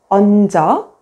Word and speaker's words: 얹어: When the 겹받침, 니은, 지읒 is followed by a vowel, only the first consonant, 니은, is pronounced and the second consonant, 지읒 becomes the initial consonant in the next syllable.